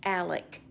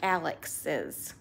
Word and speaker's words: Alex: for Alex Alex's mom it's pronounced Alec but I don't know how to say that plural plurally is that a word I don't think that's a word plurally without making it sound like Alex's Alex mom I guess that